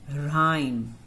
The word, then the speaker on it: rhyme: Rhyme. What do we say? Rhyme. R-I-M. Ra-im. Y की short I sound है. So here the H is silent.